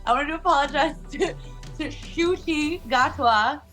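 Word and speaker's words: Ncuti Gatwa: to apologize to to shoi gatwa that is how you say his name so just throwing it out there in case anybody doesn't know yet cuz like it doesn't sound like it's it doesn't look like it sounds at all so um yes anyway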